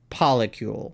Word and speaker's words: polycule: It's with a C. It's cule like molecule and poly like polyamorous. So it's molecule polycule, like it's polycule. So it's spelled like molecule.